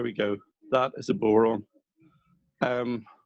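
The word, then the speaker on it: bodhrán: go that is a boron um but you're not pronouncing the d i don't said badron yeah um that's gaelic so it isn't pronounced the way it's spelled uh all right it's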